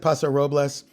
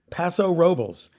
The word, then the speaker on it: Paso Robles: there originally, but it's they don't pronounce it Paso Robles, they pronounce it Paso Robles.